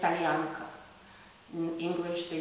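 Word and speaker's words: солянка: It's not a salyanka, it's salyanka.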